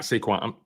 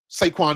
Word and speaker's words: Saquon: But I It's funny because I don't I hate when people say it like that because that I'm sorry, not Seaquin.